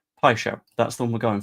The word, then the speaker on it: Paixão: That's closer than you usually are when it comes to pronunciations. Pishow, that's the one we're going for.